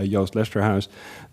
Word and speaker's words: Joost Lesterhuis: my name is I I put it actually the pronunciation on the screen for because I have a Dutch heritage so my name is a bit funny a Yost Leicester house yeah I work in